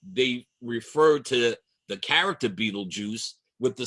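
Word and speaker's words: Betelgeuse: It looks like Beetlegeist, but it is pronounced Beetlejuice.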